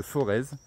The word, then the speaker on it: Forez: de forz ou de forêt je sais pas comment ça comment ça se prononce vraiment si on prononce le Z ici comme en haut de sa voix on prononce pas le Z donc F o r